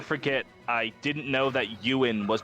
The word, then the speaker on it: Ewan: ewok because you know my brain he walked ewon and then my friend courtney went steven it's it's pronounced ewin i'm like you're lying to me and then